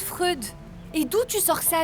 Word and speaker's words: Freud: Ça se prononce Freud.